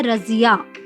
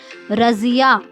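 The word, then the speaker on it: रज़िया: बच्चों, जो सही उच्चारण होता है वो होता है रजिया। क्या होता है, रजिया।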